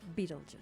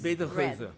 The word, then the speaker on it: Betelgeuse: Beetlejuice. Beetlejuice. Betelgeuse. Betelgeuse. Betelgeuse. That's how you spell it in Dutch, and it's better to juice. It sounds like juice, but it's just Betelgeuse is the Dutch name.